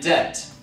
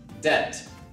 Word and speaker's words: debt: we have threats and debt you do not pronounce the b sound it's silent debt moth you see moth